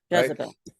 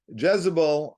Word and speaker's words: Jezebel: name of eel uh Jezebel I think it's pronounced in English right Jezebel what what's that yeah what you said Jezebel Jezebel thank you right Jezebel and um she was